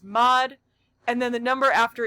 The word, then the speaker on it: mod: This sign we pronounce as mod, and then the number after is the group size.